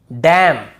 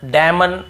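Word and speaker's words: damn: जैसे ऑटम column डैम और हाईम तो यहां पे हमें ऐसे ऑटम कॉलम डैमन ऐसे हाईमन ऐसे नहीं पढ़ना है।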